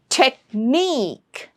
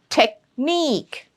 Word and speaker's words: technique: ESE, QUE, ETTE, OON, we treat them as suffixes, and in such words, the suffix gets the stress.